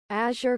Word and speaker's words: Azure: okay today's the day the way you pronounce this is azure Coast Azure Azure like Azure all right Azure Coast I've always